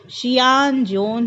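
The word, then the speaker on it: Xuanzang: उसके नाम का उच्चारण शियान जोन है, लेकिन इसे शुआनज़ैंग लिखा जाता है।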